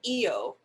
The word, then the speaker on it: -io: of the uh record hyphen i o and i pronounce it eo eo okay way more close to the spanish right eo yes so uh